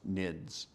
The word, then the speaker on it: NIDS: intrusion detection system is often abbreviated as the acronym NS and pronounced nids generally nids rules consist